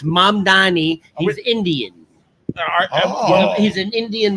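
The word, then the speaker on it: Mamdani: So, uh Mandavi. M. Am I going to have to say his name every morning? Italian. It's It's Mam Dani.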